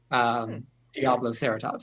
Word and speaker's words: Diabloceratops: mark, but it's it's spelled the same as Triceratops, just Diablo instead of tri. Diablo Ceratops.